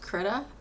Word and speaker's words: Krita: this program I'm using I think it's pronounced kurta it's okay it's got